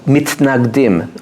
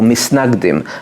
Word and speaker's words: mitnagdim: opponents became known as the mitnagdim or misnagdim as it colloquially pronounced the opponents that unfortunately